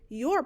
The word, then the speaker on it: your: reading the word you're remember to pronounce the letters o u r as or when writing your remember